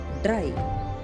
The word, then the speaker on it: dry: We should pronounce Y as I. R and Y sounds rye. Cry. K, rye. Cry. K, rye. Cry. C, R, Y. Cry. Dry.